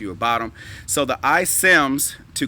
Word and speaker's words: iCIMS: One is iCIMS. iCIMS. It's called iCIMS, as a matter of fact. iCIMS Recruiting, and it's spelled ICIMS.